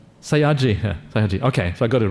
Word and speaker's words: Sayagyi: Is it how do you pronounce that? Sayagyi? Sayagyi.